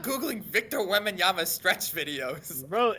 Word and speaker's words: Wembanyama: It's Victor Wembanyama, okay?